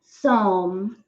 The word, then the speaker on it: psalm: me in my place of safety palm 18 psalm 18 2 yes he is silent s is silent this no it's nothing